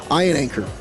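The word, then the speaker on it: Iheanachor: Ian Anchor.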